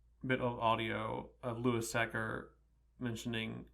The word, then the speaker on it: Louis Sachar: of audio of Louis sacker mentioning how his own name is pronounced and he sets it sacker rhymes with cracker one of the stories